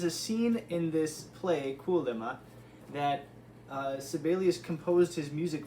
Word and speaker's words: Kuolema: Kuolema.